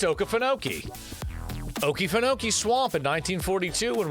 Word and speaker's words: Okefenokee: Walt Kelly, a cartoonist and movie animator, visited, I'm not even trying to pronounce that, Okefenokee. I think it's Okefenokee. It's Okefenokee.